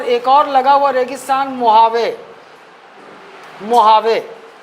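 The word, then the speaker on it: Mojave: और लगा हुआ रेगिस्तान मुहावे। मुहावे। असल में इसमें इसका स्पेलिंग अलग है। एम ओ जी ए एम ओ जे ए वी ई है। लेकिन इसमें ये मुहावे पढ़ते हैं।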